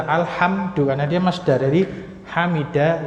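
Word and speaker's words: الحمد: simai karena dia masdar tidak dibaca humet atau humud atau Hamad atau Hamid atau himid kan gitu tapi dibaca alhamdu karena dia masdar dari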